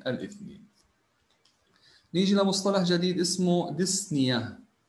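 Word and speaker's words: dyspnea: ديسنيا هنا البي بتكون سايلت لا تلفظ، فعندي ديس بريفكس بادئه معناها difficulty or pain، الم او صعوبه، والسافكس عندي بريثنج اللي هو بنيه، بنيه معناها بريثنج، المصطلح بصير اسمه ديسنيا، نقولش ديسبنيا، لا هي البي هنا بتكون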